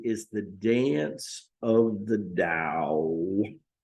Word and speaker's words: Tao: the dance of the Dow Dow pronounced Dao but spelled Tao means the way the